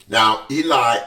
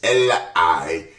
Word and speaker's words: Eli: Now, the other thing that you'll notice about both the names Eli, and I'm going to pronounce this name as Eli for the duration of this mini Bible webinar, and Samuel, you'll notice that both of them have embedded in their names E-L.